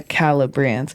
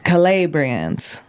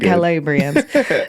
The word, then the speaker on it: Calabrians: And this would have been verse the Sicilians and the Calibrians and Okay. Calabrians. I can't I can't I'm just trying to say it right. I know you're doing it right. Calabrians.